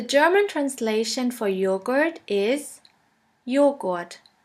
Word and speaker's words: Joghurt: The letter J is pronounced like the Y in the word yogurt. The German translation for yogurt is Joghurt. Joghurt.